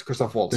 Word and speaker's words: Christoph Waltz: I was like, I want to make sure I pronounce it correctly. Yes, Christoph Waltz.